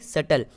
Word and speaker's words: subtle: BT साथ में आ रहा है तो हम बी को साइलेंट रखेंगे। SUTLE, यानी सटल।